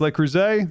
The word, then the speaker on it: Le Creuset: I know it's pronounced Le Creuset. Unfortunately, I don't care. So to me, it's not done that way.